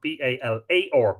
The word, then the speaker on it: Balor: Sometimes they spell Balor, B-A-L-A-R, Balar.